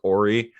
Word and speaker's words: Horry: way robert horey and i'm gonna say horry because he very much says that his name is ori and i'm gonna go ahead and pronounce the h because he's an [